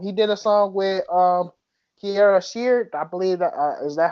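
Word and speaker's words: Kierra Sheard: He did a song with Kiara Sheard, I believe that is that her first name? I'm pronouncing her name You are right.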